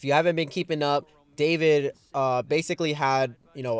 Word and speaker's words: d4vd: So, if you aren't aware, famous singer David, uh, with the number four in his name, u, so it's spelled D4 VD.